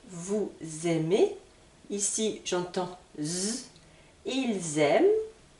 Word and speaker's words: aiment: aimez ici j'entends ils aiment Z également et là l Z donc n'oubliez pas NT ne se prononce pas je vais insister sur